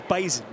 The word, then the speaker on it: Bison: And it is Bison, not Bison. Yeah. Tatanka. And we kind of wondered where that came from, but apparently it's just a dialect kind of difference in the way they pronounce the name in Fargo.